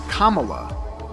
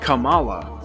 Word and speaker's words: Kamala: Kamala Harris likes to point out that her name is pronounced Kamala, not Kamala. More like communist than capitalist.